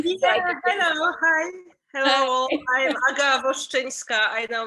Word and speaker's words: Aga Woszczyńska: Hello, I'm Aga Woszczyńska. I know it's really hard to pronounce, so don't be sorry.